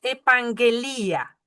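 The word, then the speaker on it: ἐπαγγελία: Esa es epanguelía. Epanguelía. Esa tiene dos gammas. Esa se pronuncia como ng.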